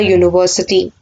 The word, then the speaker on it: university: Similarly, Danny has to join in a university. University, U is being pronounced as Y, U. So we have to add a before it because it gives a consonant sound.